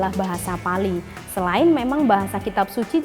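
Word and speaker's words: Pāli: itu sendiri, di mana dalam tanda bacanya Pali, jadi A-nya itu panjang, ada garis di atasnya, itu artinya adalah memang teks suci.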